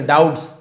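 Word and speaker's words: doubts: डाउट्स यानी यहां पर भी देखिए बी को नहीं पढ़। डाउट्स से नहीं बोलेंगे। डाउट्स डाउट्स यानी शंकाओं से भरा हुआ एक युवक पहाड़ी पर चढ़ गया।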